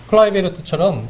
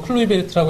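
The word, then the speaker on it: Kluivert: 클라이베르트처럼 우리는 뭐 클루이베르트라고 했습니다만 네. 네덜란드 UI가 이제 I 발음이죠.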